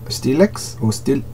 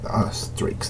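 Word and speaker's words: Streex: You have a character from Steelix or Streaks, Streaks, that's how it's pronounced.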